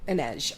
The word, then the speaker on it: Inej: Like Inez, but with a J on the end. Yeah. How do you say it? Inej.